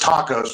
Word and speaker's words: Taos: know that I'm snooping in their backyard getting Taos. It's pronounced tacos, but it's Tacos, New Mexico.